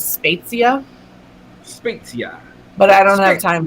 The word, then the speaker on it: Spezia: Anastasia Italian yes Italiano did you know that the actual Italian pronunciation is spetsia but I don't have